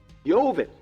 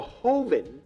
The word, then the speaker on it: joven: let's aqua Dolce artisanal Joven or a Hoven is how you say to Mexico because you say the J like an H ovin which means a